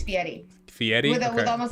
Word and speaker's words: Fieri: Fieri I don't really know I hear people pronounce it Guy Fieri it's Fieri Fieri that was almost like a tea like you're